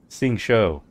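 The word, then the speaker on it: Xingqiu: Xingshou. So why didn't you tell Xingshou?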